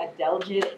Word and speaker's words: adelgid: And adelgid. A-D. Any spelling I'm going to defer, Laura? It's woolly adelgid. A-D. I can't say it out loud. A-D-E-L-G-I-D. Just the way it's spelled.